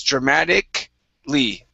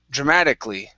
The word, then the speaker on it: dramatically: is pronounced dramatically okay we're going to skip over the a instead of dramatically it's dramatic lee dramatically dramatically okay one more